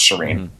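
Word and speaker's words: Shirin: can't figure out sh it's two syllables both of which are pretty easy it's not like her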